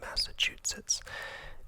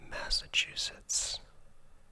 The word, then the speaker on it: Massachusetts: massachusetts massachusetts okay so i think previously i was adding a t in there somewhere like massachusetts and that's wrong so my apologies massachusetts massachusetts yeah massachusetts okay um that's kind